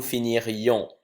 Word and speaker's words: finirions: Nous finirions. Et je prononce bien le i.